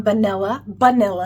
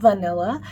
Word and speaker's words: Banilla: Our next item is a deluxe sample, and this is from Banilla, not vanilla.